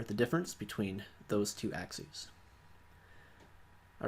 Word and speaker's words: axes: is axes looks like axes like a battle-axe but it's pronounced axes because it's plural for the word axis so we have two